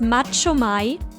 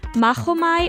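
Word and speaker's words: Machomei: because if pronounced correctly mahomai also sounds the same as the old greek word for i fight so it contains another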